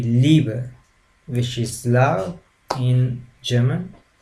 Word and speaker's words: Liebe: It's a prolonged sound of the sound E, so that's what we are talking about with this letter combination. I mean, the German language, I could give you an example. It would be Liebe, which is love in German.